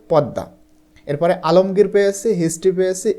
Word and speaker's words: পদ্মা: পাইনি এরপরে পদ্মা পেয়েছি এটা কিন্তু মানে পাদ্দমা হয় না ঠিক আছে এটার উচ্চারণ হচ্ছে পদ্মা এরপরে আলমগীর পেয়েছি হিস্ট্রি